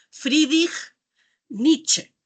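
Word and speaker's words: Friedrich Nietzsche: Este otro señor, Fridich Nietzsche, así se pronuncia más o menos el nombre, eh en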